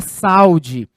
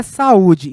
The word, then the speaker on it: saúde: Se eu retiro esse acento, nós temos a leitura saúde. Mas a palavra não é saúde, a palavra é saúde. Então, o acento vem para me mostrar que este U é uma vogal e não uma semivogal.